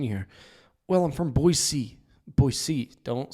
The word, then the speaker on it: Boise: No, it's Boise.